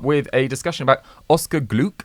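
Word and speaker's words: Gloukh: a discussion about Oscar gluc am I pronouncing that right I think it's glue yes he uh big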